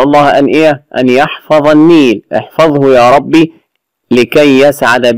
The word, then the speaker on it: النيل: النيل اسم لأن بها ألف ولام، واللام شمسية، اللام الشمسية لا تنطق، وعرفت لام شمسية إن الحرف اللي بعدها فوقه شدة، والحرف المشدد بحرفين، الأول ساكن والثاني متحرك. النيل، وتلاحظ أنه ثقيل في النطق، يعني تقول النيل.